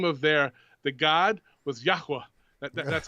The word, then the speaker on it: Yahweh: but I I I think the correct pronunciation would be yahwa even though I want up saying Yahweh myself if you just